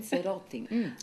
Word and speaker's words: Pansarotti: Pansarotti.